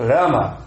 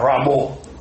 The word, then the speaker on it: Rama: Prabhupada nos ensinou claramente a pronúncia do sânscrito. Rama. Aí a pessoa vê um kirtana lá de bengalis, com o sotaque deles, a gente quer imitar. Ramo. Mas não é sânscrito. É bengali.